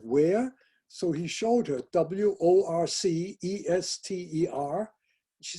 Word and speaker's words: Worcester: massachusetts he said where so he showed her w-o-r-c-e-s-t-e-r she said have you been drinking that's more chester like the sauce i use orchestra sauce no